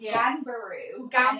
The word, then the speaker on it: Ganbaru: You are the owner of Ganbaru. Am I pronouncing that right? No one can pronounce it. Probably wasn't a great business name. But the meaning behind it's amazing. So it's Ganbaru. And it's Japanese and it means the